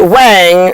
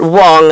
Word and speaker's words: Wang: Sanjay just happens to have started a company with a Wang, they pronounce it Wong apparently, on Long Island in New York called a Computer Associates.